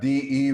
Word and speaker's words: de: Then we have DE reduction Portuguese. DE in Brazil is often pronounced like G.